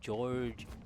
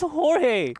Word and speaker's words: Jorge: you pronounce this name george george george george how in the world is this jorge i took a it just needs an e come on i took